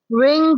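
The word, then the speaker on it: wring: रिंग the cloth. रिंग the cloth. यहां पर W silent होगा। इसे रिंग पढ़ा जाएगा।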